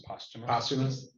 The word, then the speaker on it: posthumous: And do you pronounce it posthumous? It looks like posthumous, but I think it's posthumous.